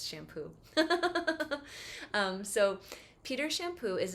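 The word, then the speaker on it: Champoux: has a great name it's French name Peter shampoo is his name but it's spelled like c-h-a-m-p-o-u-x so it's shampoo um so Peter shampoo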